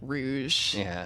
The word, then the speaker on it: Rouge: it's spelled Rouge really I always pronounced it Rogue as a kid but it's spelled Rouge okay all right there